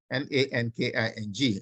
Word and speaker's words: Nanking: That was the Treaty of Nanking, Nanking. Nanking. Nanking is a Chinese word. It's not the king there is not English. It's a Chinese pronunciation.